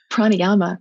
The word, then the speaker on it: Pranayama: Pranayama.